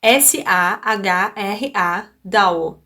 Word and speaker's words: Sahra Dawo: olho aqui no script, parece Sarah, então mas é Sahra Dawo, D-A-W-O. Então a pronúncia é mais ou menos Sarah Dawo, ok?